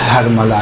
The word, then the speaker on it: ہرملہ: یقینی طور پہ ہرملہ۔ دیکھیں اصل تلفظ ہرملہ ہے، جسے ہم لوگ اپنی زبان میں ہرملہ کہتے ہیں، صحیح؟